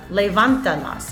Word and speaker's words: levántalas: And here I have levántalas. I count 1, 2, 3 syllables back in order to make sure that I pronounce it correctly.